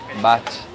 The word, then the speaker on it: baht: Baht.